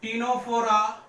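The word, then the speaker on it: Ctenophora: इसमें होता है सिलेंट्रेटा कॉमा टीनोफोरा, सी साइलेंट होगा, टीनोफोरा एंड इकाइनोडर्मेटा।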